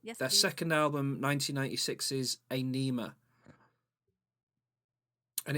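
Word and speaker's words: Ænima: is a nema and it's spelt very weirdly because the first letter is like an a and an e combined together and then n-i-m-a anema like dipping a pen and some ink there no no it's just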